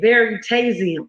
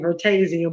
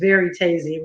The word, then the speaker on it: Veritasium: Uh, and he pronounced it right for me, Veritasium, right? I've been saying Vertasium, but it's Veritasium, right?